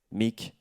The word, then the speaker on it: Meak: changer une lettre mais pour garder la sonorité mix ça s'écrit maintenant m ea k ça ne veut plus rien dire littéralement voilà donc au moins vous savez pourquoi je m'appelle Mick c'est mon onssen ça